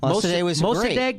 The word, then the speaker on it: Mossadegh: First democracy, and Mossadegh is how you say it.